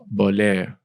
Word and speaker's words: Bohler: Bohler. Bohler. Bohler. See, I had to Yeah, say it right. The French pronunciation is unique.